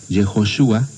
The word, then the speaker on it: Yehoshua: Y Jesús significa, su nombre, su pronunciación exacta sería Yehoshua. Jesús es la forma griega, Yehoshua es la forma hebrea, significa Dios es salvación, ¿no?